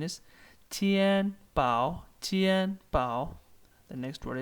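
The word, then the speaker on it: 钱包: The pronunciation is tian pao, tian pao.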